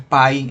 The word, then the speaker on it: pie: Gráficos de Pay, que es el de... Eso es costumbre decir Pay, pero ya saben que es Pie en inglés.